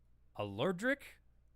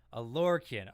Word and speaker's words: Alorkin: It's a Lorcan. Alorkin.